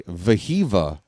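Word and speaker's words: Wehiwa: His name is spelled with a W, and phonetically it sounds like Wahiwa, but the W's are hard V. It's actually Vahiva Aloy.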